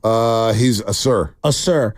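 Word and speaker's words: Ausar: uh amen amen and then how do you pronounce his brother's name uh he's a sir a sir y the fact that they grew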